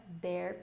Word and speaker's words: there: There não é there, não é there com som de D. É um som que só tem na língua inglesa, não temos na língua portuguesa.